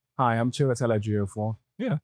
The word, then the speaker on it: Chiwetel Ejiofor: Hi, I'm Chiwetel Ejiofor.